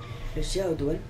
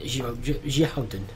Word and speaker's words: Xiahou Dun: Xiahou Duan? Xiahou Dun. That's how they say it.